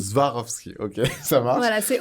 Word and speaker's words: Swarovski: C'est Zwarovski. Swarovski.